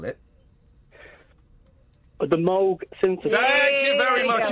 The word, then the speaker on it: Moog: Uh, in Germany, it's a fairly common name and there it's pronounced Moog.